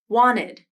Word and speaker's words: wanted: internet wanted i didn't pronounce the t sound instead i used what is called a nasal flap which is essentially when the t sound is omitted completely and only the n is pronounced i'll say these words